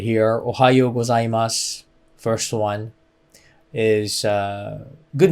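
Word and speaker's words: おはようございます: pronounce this ohio ohio so o is a little low hyo is a little high so ohayo gozaimasu so goes a little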